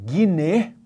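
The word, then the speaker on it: γύναι: Ele diz à mãe, Ginai, ou então, como se pronunciava naquela época, Gine, ide ho huios zu.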